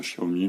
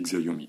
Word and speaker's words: Xiaomi: qui qui me disputent à cause de ma prononciation à la française c'est vrai qu'il faut dire Xiaomi mais moi je dis xiomi excusez-moi mais c'est comme ça alors euh voilà